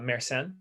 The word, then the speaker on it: Mersenne: Yeah, so that's so the pronunciation is Mersenne primes, but yes, they're nice because it's sort of a formula for primes.